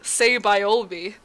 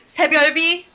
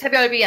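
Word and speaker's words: Saebyeolbe: It's Sebiolbi, though I think, like, that's, like, a tricky name. Like, it's spelled very, like, it's spelled very complicated. But it's Sebiolbi, and it means Reign of Stars Before Dawn.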